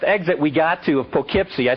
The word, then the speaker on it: Poughkeepsie: at the sign and she said it says pokepc i said allison i know that's how it looks but they pronounce it around here poughkeepsie she said dad if they wanted to say